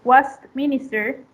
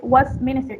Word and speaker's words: Westminster: The same with 13, it is in the second syllable, the stress, and 30 in place. The stress goes to the first syllable. The same with Westminster, the stress is in